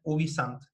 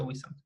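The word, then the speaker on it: ubi sunt: Entonces, el tópico más cercano era el ubisant, o ubisunt, como sale ahí, pero se pronuncia ubisant.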